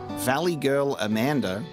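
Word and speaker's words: Valigarmanda: Despite its reputation, however, Valley Girl Amanda, according to Scribbler, that's the correct pronunciation.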